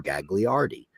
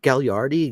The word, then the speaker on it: Gagliardi: named Randy gardi and his name is g a g l a i r d i people used to call him Gagliardi and he used to just I said isn't it gardi goes I give up